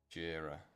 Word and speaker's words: Jira: Jira. Is that right? Must Yeah, Jira. That's what they're saying. I was like, oh, am I pronouncing it right? Or is it Jira? You know? Jira. Like Bagheera.